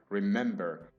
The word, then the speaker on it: remember: But for example, remember has three syllables. Re-mem-ber. And the stress is on the second syllable.